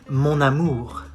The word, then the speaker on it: mon amour: You say mon amour. You do the liaison. Mon amour. Why? Because it ends with an N and the next word starts with an A. So you link both.